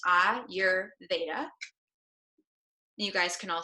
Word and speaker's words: Ayurveda: pronounce the word Ayurveda because it's not an English word it comes from the Sanskrit language so it's pronounced ah your beta you guys can all